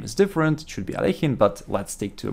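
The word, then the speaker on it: Alekhine: not for critics I do know the correct pronunciation of his name is different should be aleikin but let's stick to a more common way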